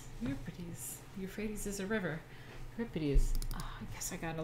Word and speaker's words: Euripides: Euripides.